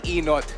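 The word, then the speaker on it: Ynot: to talk about Tony enot and we've been making a big deal out of the spelling because it's spelled why not as in why not go to Tony enot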